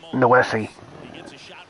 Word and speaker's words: Noesi: pronouncing Noisy's name wrong. It's Noesi.